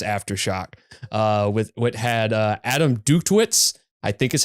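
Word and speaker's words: Dutkiewicz: with Kirk Winstein's Aftershock, with what had Adam Duktwitz, I think is how you pronounce it, but it's Adam D and his brother.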